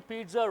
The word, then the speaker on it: pizza: In Italian language, two Z's should be pronounced as TZ.